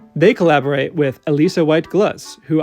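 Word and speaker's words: Alissa White-Gluz: They collaborate with Alisa White Glutz, who I finally heard say her own name and know that I have been mispronouncing it for years. Don't worry though, how I just said it is the correct way.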